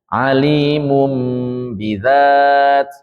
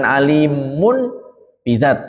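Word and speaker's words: عليم بذات: Alimum bidzat, alimum bidzat. Di sini bukan alimun bidzat tapi alimum, ya.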